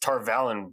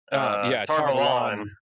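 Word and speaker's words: Tar Valon: Like Aram says Tarvalon weird. Tarvalon. Yeah, well, and to be fair, I think you and I have talked about this once a long time ago. I think that is technically the author endorsed pronunciation, as frustrating as that is.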